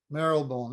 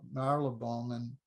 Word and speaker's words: Marylebone: How's it pronounced? Marylebone? Marylebone.